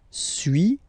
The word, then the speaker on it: suis: Okay, so first one, suis, as you've been noticing, you don't pronounce the final S.